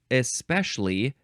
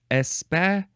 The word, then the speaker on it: especially: You can say especially, 3 syllables, or especially, 4 syllables.